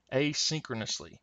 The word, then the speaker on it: asynchronously: Asynchronously.